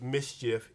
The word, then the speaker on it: MSCHF: Lil Nas X and a company known as Mischief, M-S-C-H-F is how they actually spell it.